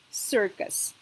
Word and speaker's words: circus: In this one, we have two letter C's. So in this case, it is pronounced S because it is followed by I, as I said. And in this case, it is pronounced K because it is followed by U, or any other letter could be here to be pronounced K. So this word is pronounced circus.